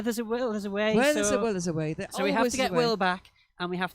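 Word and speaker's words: Wai: we knew that neither W AI but it's pronounced way we just you know we were just pretending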